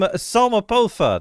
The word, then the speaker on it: Sopha: And I am I am Sopha. That is how you uh pronounce my name.